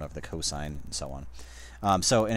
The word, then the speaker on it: cosine: The cosine, that's generally written cos, like this, but we would pronounce it cosine, is the adjacent side divided by the hypotenuse.